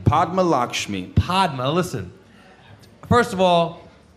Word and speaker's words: Padma Lakshmi: How do you pronounce her name? Padma Lakshmi.